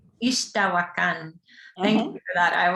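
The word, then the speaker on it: Ixtahuacán: How do you pronounce this last word, Eugenia? Ixtahuacan. Ixtahuacan.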